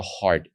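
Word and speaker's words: ה: It's always going to be D, like a hard D letter. So you have Aleph, Bet, Gimel, Dalet, and then you have the letter Hey. And Hey is pronounced Ha. Ha.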